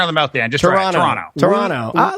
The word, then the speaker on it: Toronto: guys say the word toronto uh that's not how people in canada pronounce it try dropping the second t as in terra no they don't run toronto but i'll leave you